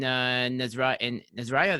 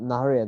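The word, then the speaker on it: Nahariya: So when you were growing up in Nazariya, that's how you say it? No, Naharia, Naharia. Naharia.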